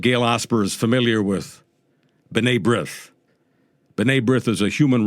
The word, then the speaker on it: B'nai B'rith: The way to pronounce it in Hebrew for anyone who's interested, B'nai Brit.